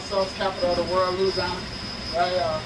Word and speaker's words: Louisiana: I am from what you call the hot sauce capital of the world, Louisiana. Some of you might pronounce it Louisiana, but that's wrong.